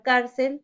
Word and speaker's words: cárcel: Tenemos la palabra cárcel, la sílaba car lleva tilde, porque estamos ubicándonos en la penúltima sílaba.